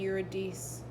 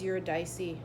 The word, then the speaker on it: Eurydice: Orpheus and Eurydice. Eurydice? I always say it wrong. I think it's Eurydice.